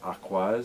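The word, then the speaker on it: Aqours: I thought it was a course but it's pronounced aquas so you learn new stuff I guess I'm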